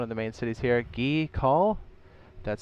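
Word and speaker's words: Gea Kul: Southern expanse one of the main cities here ghee call that's how you say it and it's literally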